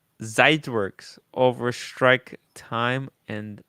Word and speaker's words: Zeitwerk: There's no W in German, Tim. It's like BMW is pronounced BMW. BMW. Zeitwerk with a V, kind of pronounced like with a V.